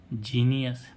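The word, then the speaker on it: genius: ऐसे ही इसमें जीई एन आई यू एस जीनियस अब इसमें देखें सी के साथ में ई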